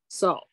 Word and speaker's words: sol: Yapin sol. Sol. Yapin sol. Yes, sol is like you would say it's sharp, but it's pronounced S, like in shopping.